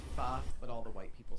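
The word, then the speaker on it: phở: Pho. Pho soup. Not Vietnamese soup. not F-A-U-X. No. It's actually pronounced pho, but all the white people say pho.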